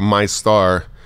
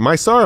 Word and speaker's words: Meister: Is it MyStar or Meister, like the employees? That's the Meister. Yeah, that's Meister, the Meister.